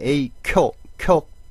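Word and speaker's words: 影響: 자, 우리 영업 해주면 에이교 연음 해줘야 됩니다. 에이교 니오리가 땡땡 붙어요. 근데 만약에 에이쿄 세게 발음을 해주면 영향이란 뜻이 있습니다. 큰 영향이 있었습니다. 해주면 오키나 에이쿄가 아리마시다. 에이쿄하고 세게 발음을 해주면 영업 해주면 에이교 이렇게 해주니까 요거 발음 조심해 주셔야 되고요.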